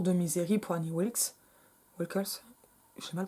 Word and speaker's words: Wilkes: vraie machine à écrire cassée à laquelle qu'Annie Wickle a acheté pour Paul Sheldon, un Le Retour de Misery pour Annie Wilkes. Wilkes, j'ai mal prononcé.